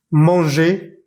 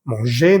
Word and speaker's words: manger: Olvídate de esa R al final y simplemente esa E la pronuncias E. ER al final de los verbos se dice E.